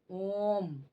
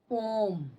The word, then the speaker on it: ओम: जैसे मंत्र उच्चारण में जैसे ओम इस प्रकार से बोलते हैं ओम तो यह क्या है दीर्घ स्वर है इसको लिख सकते हैं मंत्र उच्चारण में किसम मंत्र उच्चारण में मंत्र उच्चारण में इसका प्रयोग किया जाता है इसे बोलते हैं ओम इसको दीर्घ स्वर के अपेक्षा भी ज्यादा समय इसमें लगता है उच्चारण करने में समझ गए ओम अब